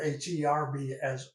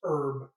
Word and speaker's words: herb: teasing folks because I was raised up to pronounce the word h-e-r-b-s herb not herb and so many people today pronounce